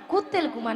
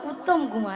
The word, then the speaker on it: উত্তম কুমার: কুত্তেল কুমার নয়, হ্যাঁ। বলো উত্তম কুমার।